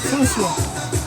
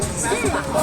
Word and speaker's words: François: Pronunciation is very different. François, okay?